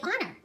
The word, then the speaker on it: honor: I think it sounds like a great honor. Isn't that right, Amerda? It sure is, Rahul. Our correct answer is, sounds like a great honor. Is the H is silent?